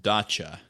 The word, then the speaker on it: Dacia: And I think it was pronounced Dacia by people who, like, pronounce it correctly, but what fun is that?